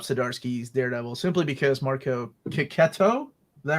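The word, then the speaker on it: Checchetto: I will never stop Zdarsky's Daredevil simply because Marco Kiketo. Is that right? Am I doing that right? Right, Kato. What is the pronunciation we're going with today? Jess, how would you pronounce that gentleman's name? Chicheto.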